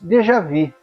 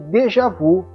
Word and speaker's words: déjà vu: Fato que desafia a nossa imaginação são os ditos de Javi, mais popularmente conhecida como de Javu, numa imprecisa pronúncia do francês.